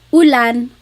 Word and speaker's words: ulan: And then letter U is an U sound. U. So ulan, upuan, rain and chair, u.